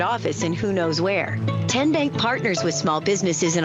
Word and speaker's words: TN Bank: you enroll wildcats role how do you say the name tn bank nope tin bank so what is it ten bank ten as in tennessee right here where all